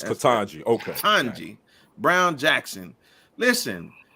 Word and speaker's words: Ketanji: figure it out myself catanji it's katanji okay kanji brown jackson